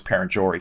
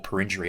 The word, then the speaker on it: Perenjori: Eneabba and out towards Perenjori for example. So or Perenjory I believe that's how you say it.